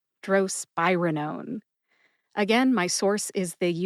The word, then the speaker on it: drospirenone: Drospirenone. Emphasize SPYE. See if you can hear the emphasis when I say it again. Drospirenone. Drospirenone.